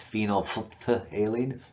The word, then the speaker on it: phenolphthalein: phenolphthalein uh it's or I don't know if you really pronounce this pH in the middle um you can try saying it's phenolphthaleine phenolphthalein um usually most people just skip the other pH there anyway so phenolphthaleine is is